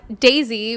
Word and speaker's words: Dasie: Okay, you can, it's Dasie, but it's not spelled like the flower.